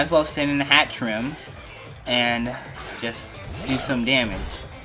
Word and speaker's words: Hatterene: tree in a hat room Pat rim that's hat trim that's how you pronounce a trim it has to move size